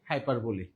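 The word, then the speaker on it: hyperbole: ভাষায় এটাকে বলা হয় হাইপারবলি। কি বলা হয়? হাইপার। অনেকে উচ্চারণ করেন হাইপারবোল। নট বোল। হাইপারবলি। উচ্চারণ কি? হাইপারবলি।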